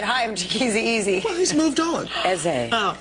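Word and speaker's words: Chikezie Eze: I'm on tour with Phil Stacy, Gina Glockson, Chikizi, Eze. Gotta say it right. Is it really Don't you say easy. Don't say easy. He gets mad? Chikizi Eze. Chikizi Eze.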